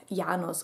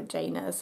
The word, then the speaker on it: Janus: it is named after a Roman god yanos or Janus if you pronounce it English and and this God